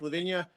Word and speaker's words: La Vigne: Um, so my name is Levvenia. Uh, technically it is pronounced Lavine, but for reasons I go by Levvenia.